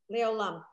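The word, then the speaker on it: לעולם: This thing here is silent. So what you have is the L, and then this silent letter with. Olam. Le'olam.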